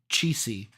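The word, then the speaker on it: Cichy: um Jack what's his how do you say last name cheesy c-i-c-h-y cheesy oh never sure he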